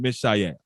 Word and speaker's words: Mishael: And let me pronounce their names correctly again. Ananias, Azarias, and Mishael.